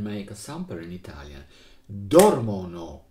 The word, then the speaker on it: dormono: Dormono questi qua, with the accent on the first.